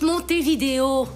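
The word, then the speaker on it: Montevideo: de l'ouruguay Moné des ça se prononce mon vidéo mon mon des mon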